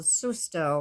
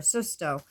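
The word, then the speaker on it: susto: wanted to share was this thing called soos toe or Sisto it's spelled SU sto and it's a Latin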